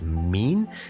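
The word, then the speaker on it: מִן: and nun safety and this is pronounced as mean and it's a preposition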